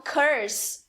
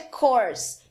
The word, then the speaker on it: course: Muitas pessoas falam curse, mas na verdade é course.